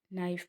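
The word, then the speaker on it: knife: School में H silent है, give में गिव में ई, नाइफ में के, राइट में डब्ल्यू, हाई में जी और स्विच में टी साइलेंट है।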